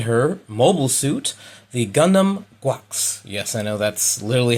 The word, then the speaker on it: GQuuuuuuX: Gundam, Machu and her mobile suit, the Gundam Guax. Yes, I know that's literally how you pronounce it.